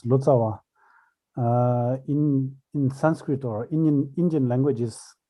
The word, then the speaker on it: Lotsawa: Okay, so here Kempo says Lotsawa. In Sanskrit or Indian languages, it was pronounced rather Lotchawa rather than Lotsawa.